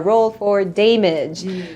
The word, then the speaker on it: Dameage: coupon code damage 10 that is damage with an e that is how we pronounce our name we are roll for damage which a lot of